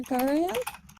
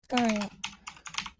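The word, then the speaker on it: Garaele: Sister Gariel. Gariel. Like Ariel, but with a G.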